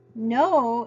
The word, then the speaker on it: know: w from our story no is a little bit tricky though because it has a silent K at the beginning of the word so here I'm going